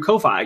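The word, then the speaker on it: Ko-fi: society fundraising tool through kofi is it pronounced coffee i say coffee i say coffee because it's like coffee yeah exactly it's almost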